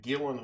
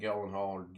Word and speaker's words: Gyllenhaal: It had Jake Gyllenhaal, or however you say his name, and I believe he was portraying a Marine.